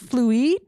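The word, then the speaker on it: Fluide: non-conforming makeup a brand I believe it is pronounced fluid it's like fluid with an E so it's fancy um so they're promot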